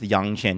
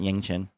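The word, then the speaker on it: Yangchen: you can hear yeah it's actually pronounced Yang Chen not Ying chin now the issue is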